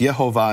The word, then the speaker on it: Yehovah: Now, in English, people call that Jehovah, but in the Latin, it's actually pronounced Yehovah. In later Latin, it would be Yehovah.